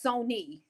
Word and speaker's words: Sonia: It's like my name is Sonia, but it's Sony. It's Sony. Sony. All right.